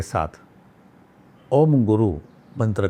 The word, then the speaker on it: ओम: ओम का जो उच्चारण है बहुत लोग गलत करते हैं। ओम जो है इसमें 5 अक्षर हैं, इसमें से 3 दिखाई देते हैं, ए यू एम, अ उ और म, और गु यानी कि